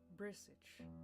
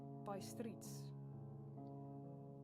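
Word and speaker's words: Bistritz: I was on the dark side of twilight when we got to Brisich. I'm now wondering if I'm pronouncing it correctly. By streets. I wasn't. By streets.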